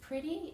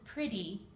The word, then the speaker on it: pretty: these T's in America when you have a Double T in a word it actually makes a D sound so this is pretty or letter if you pronounce your